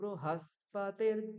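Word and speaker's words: बृहस्पतिः: বয় রিতে ব্রি উচ্চারণ হয়, কিন্তু যখন আপনারা এইভাবে উচ্চারণ করবেন, এই কৃষ্ণ যজুর্বেদের মতন উচ্চারণ করবেন, সেখানে রিকারকে রু উচ্চারণ করতে হবে। ব্রু।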